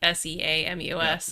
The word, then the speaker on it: Seamus: You spelled shame us as shame, the word shame, and then us as in plural, and it took me a second, because I'm used to seeing how it's spelled, like Seamus.